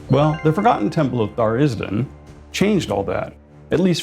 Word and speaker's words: Tharizdun: And though the correct pronunciation is Tharizdun, you're welcome to pronounce it however you want.